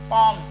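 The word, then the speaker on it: palm: प ए एल एम अब इसमें एल जो है एम के पहले है तो इसकी आवाज नहीं आएगी प तो एल को चुप रखना है पम हथेली ऐसे हाफ एफ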